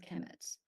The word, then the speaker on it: Kemet: is the third word and they're both pronounced Kemet okay this one represents